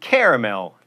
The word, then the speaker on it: caramel: that t silent and caramel three syllables caramel's also Al acceptable